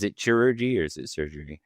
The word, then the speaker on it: chirurgy: Is it chirurgy or is it surgery? How do you pronounce it?